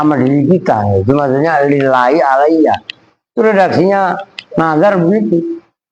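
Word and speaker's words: لله: Lil itu bacanya lillahi, bukan ala kaza.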